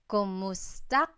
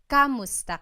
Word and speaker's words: kumusta: Kumusta ka? So it's spelled K-U-M, kumusta ka. But sometimes you might hear some people say kamusta ka, like it's a K-A sound.